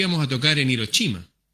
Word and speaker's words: Hiroshima: vamos a tocar en hiroshima se pronuncia giro chima le dije mis compañeros